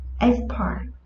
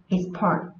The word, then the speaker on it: export: Khi nó ở dạng danh từ, khi nó đứng ở vị trí là danh từ thì trọng âm của nó rơi vào âm tiết đầu tiên. Khi nó đứng ở vị trí là động từ, trọng âm của nó sẽ rơi vào âm tiết thứ hai.